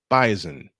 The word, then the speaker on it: bison: the North Dakota State Bison and yes I said it right the s pronounced like a z bison in a thriller